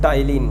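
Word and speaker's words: Ptyalin: ठीक है, और इसको जो टाइलिन की स्पेलिंग में पी साइलेंट रहता है, तो इसकी स्पेलिंग क्या है, PTYLINE।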